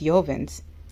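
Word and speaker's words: Jovan: is a new cheapy this is yoven I believe it's pronounced yoven Yen's black musk and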